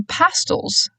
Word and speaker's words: pastels: "You always wear pastels." Emphasis on the first syllable.